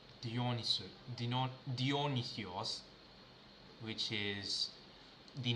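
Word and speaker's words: Διόνυσος: Dionis Dionis use whatever that's how the Americans or the western people call but in Greek you pronounce it as dionios something or dionos Anyway, let's get clone this repository.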